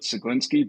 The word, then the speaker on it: Ceglinski: Oh, I call it Ceglinski, but when I went to Poland, they said I pronounced it wrong, and I just gave up trying to figure out how to pronounce it properly.